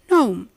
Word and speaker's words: gnome: We say diaphragm, paradigm, flam, assign, campaign, consign, design, foreign, rain, sign, nash, no, and gnome. Which is the next one now? The superhero of all the silent letters, the K.